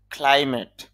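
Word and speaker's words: climb: এন্ট অর্থ হলো মক্কেল ক্লাইমেট জলবায়ু ক্লাইম আরোহণ করা বা চড়া ক্লাইম আরোহণ এখানে খেয়াল করেন এম এর পরে যেই বি আছে এখানে বিটা লিখে আসবে তবে উচ্চারণে আসবে না ক্লাইমিং আরোহণ নাউন হিসেবে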